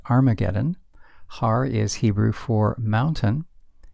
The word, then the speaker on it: Armageddon: yet to come and it will happen at har mageddon or as it's commonly pronounced Armageddon har is Hebrew for mountain and then magedon